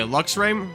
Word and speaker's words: Luxray: Luxray. Sorry, I pronounced it Luke's RAM. It's Luxray. Luxray is a great Pokemon.